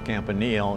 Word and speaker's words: Campanile: Campa I pronounce it another pronunciation is campanil and both are correct whichever you want to use I'm not a mathematician